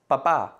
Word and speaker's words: papá: In the previous video, we mentioned that las palabras agudas refers to words in which the last syllable is the stressed syllable, like in the words papá and igualdad.